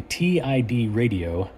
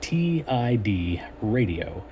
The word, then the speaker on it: TIDRadio: another installment of Julian's brandom projects uh recently TI radio which is how you're supposed to pronounce that TI D radio that kind of